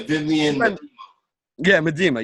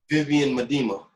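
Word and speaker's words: Vivianne Miedema: Yeah, Vivian. Medema.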